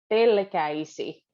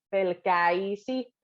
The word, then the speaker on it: pelkäisi: Minä pelkäisi. In this one, the äisi, pelkäisi. The k really gives a start, a nice kick to the äisi. Pelkäisi, pelkäisi, sinussa en olla.